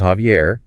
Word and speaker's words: Javier: Or you could say, "My name is Javier." The J sounds like an H in English.